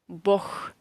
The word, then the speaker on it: Бог: But Бог, we pronounce this G as H. Бог, it means God.